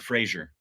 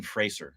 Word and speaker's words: Fraser: Yeah, it's not Fraser. It's Brendan Fraser, like Eraser.